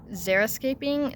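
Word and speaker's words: xeriscaping: are very popular in Zer escaping that's spelled with an EXO uh Zer the point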